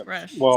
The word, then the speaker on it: Grusch: I was just wondering, why you can't pronounce his last name, because it's Gersh, not Grusch. It's Grusch. Yeah. Grusch. Well, like Rush.